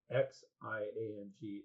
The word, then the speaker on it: Xiang: So it's the same exact pronunciation, but with an HS rather than X.